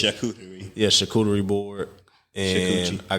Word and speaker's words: charcuterie: I got a shake coochie board. Whatever, that ain't the right way to say it. Charcuterie.